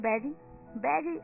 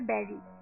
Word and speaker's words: bury: बहुत से ऐसे लोग हैं जो इसे बरी कहते हैं, पर इसकी जो प्रॉपर प्रोनाउंसिएशन है वो है बेरी।